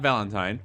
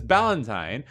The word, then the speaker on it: Ballantine: let's be into Wells not Valentine or volunteen that those are pronounced incorrectly but my name is ballantine I am a very